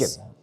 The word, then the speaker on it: Achan: Achan. Yeah. Rhymes with bacon.